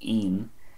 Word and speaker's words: ín: This comes from 2 words, nóin, which comes from the Irish word iarnón, which means afternoon, nóin, and I fada n, pronounced een, usually refers to a child or children.